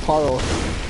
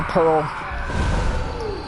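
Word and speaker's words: Paarl: just going to say pearl it's not spelled Pearl it's spelled with two A's so it really should be pronounced parl but I'm just going to say pearl because that's clearly the intended name damn how it's spoked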